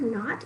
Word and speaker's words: knot: at the beginning of knot it's sort of like the word i know you or i'm going to tie a knot it's going to start with a silent what okay now we can